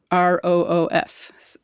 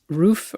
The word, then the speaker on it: roof: still going on so how do you say r-o-of-f roof or roof yeah I kind of have both of them I say both yeah actually uh but